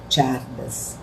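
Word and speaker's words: Csárdás: Não se escreve, se escreve Kizárdas, mas se lê Csárdas.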